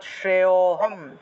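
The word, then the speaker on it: श्रेयोऽहम्: উচ্চারণ চলে আসে অর্থাৎ শ্রেয়হম শ্রেয়হম অর্থাৎ এই যে শ্রেয় উচ্চারণ করার সাথে সাথে অটা চলে আসতেছে এবং সেই অটাই আমাদেরকে একটু টান দিয়ে উচ্চারণ করতে হবে শ্রেয়োহম শ্রেয়োহম ঠিক আছে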